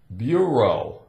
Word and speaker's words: bureau: We have E-A-U, bureau, a bureau. Now, bureau, the sound bureau could be like the Bureau of Federal Investigations.